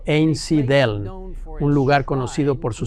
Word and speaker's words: Einsiedeln: En el año 1516, Zwinglio se convirtió en predicador en Einsiedeln, pronunciado Einsiedeln, un lugar conocido por su santuario a la Virgen María.